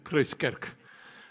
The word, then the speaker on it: Christkerk: You've got to be Afrikaans to say it properly, eh? Christkerk.